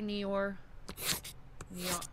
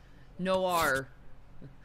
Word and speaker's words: noir: Thank you, L.A. Neor. I said it wrong. Noir.